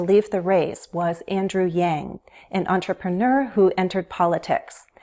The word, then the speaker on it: Yang: The NG sound is a voiced sound, and it's similar to N, but we use the back of our tongue. The back rises toward the roof of the mouth. Yang. Yang Gang.